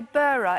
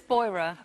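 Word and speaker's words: Beurer: number for the monogram now I said by burra is that the right pronunciation it's boira boira yeah boira um comfort I'm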